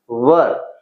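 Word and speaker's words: were: देखिए यहां पर इसका प्रोनाउंसिएशन वेयर नहीं होगा। आप प्रोनाउंसिएशन भी सीखते रहिए कि इसका प्रोनाउंसिएशन होगा वर। वेयर किसका होगा? डब्ल्यू एच ई आर ई। उसका वेयर होता है। तो इसका होगा वर क्योंकि इट इज़ डब्ल्यू ई आर ई वर।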